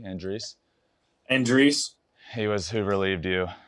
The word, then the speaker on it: Andriese: Matt Andriese, and how do you say it? Andriese? Andriese.